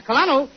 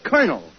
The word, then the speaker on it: colonel: no no you see that word is pronounced colonel colonel yes Colonel where